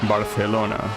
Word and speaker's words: Barcelona: In Spain, they will pronounce it um Barcelona, right?